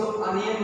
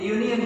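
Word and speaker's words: union: रहा है, क्यों, क्योंकि इसको अनियन नहीं बोलते, इसको हम प्रोनाउंसिएशन में क्या बोलते हैं, यूनियन बोलते हैं।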